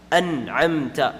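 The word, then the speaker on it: أَنْعَمْتَ: An and then a. Ayn is a throat letter from the middle portion of the throat. And since it's a throat letter, the noon will be pronounced fully, and there's going to be no ghunnah.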